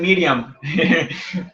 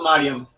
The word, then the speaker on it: Mariam: Siempre me dicen Miriam. No, en realidad acá dice luego Mariam.